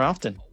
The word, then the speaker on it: often: Can't wait to do this more often. More often. Often. You pronounce the T real hard.